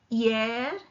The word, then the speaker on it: hier: Hier, H is silent.